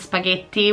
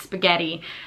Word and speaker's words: spaghetti: my last video but in America it's spaghetti like the TT is almost an R it sounds more almost